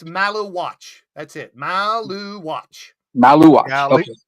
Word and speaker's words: Maluach: can't pronounce his name. It's Malawach.